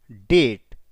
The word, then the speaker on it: डेट: always रिमन इन डेट यहां पर B silent है डेट पढ़ेंगे दे ऑलवेज रिमन इन